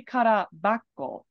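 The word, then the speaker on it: 空箱: really good guess but it should be Kara Bako for rendaku right mean mean empty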